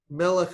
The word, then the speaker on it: melech: And the reason that's different is because of where the accent is. Almost all Hebrew words, or that's an overstatement. More Hebrew words are accented on the last syllable than anywhere else. But melech is an example of one, as you can hear when we say it.